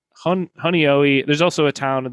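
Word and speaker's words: Honeoye: Honoi.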